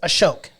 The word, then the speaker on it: Ashok: I keep getting that name wrong. It's Ashok.